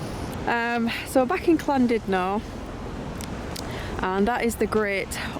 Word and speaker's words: Llandudno: on the road i'm back to klondino we know how to say it now um even though it's spelled landed no apparently the two l's sound like a sea um so back in